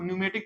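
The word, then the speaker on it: pneumatic: ना हम बताए थे इसको न्यूमेटिक पढ़ते हैं पी से स्पेलिंग चालू होता है लेकिन पढ़ते न्यूमेटिक है एक बात यह और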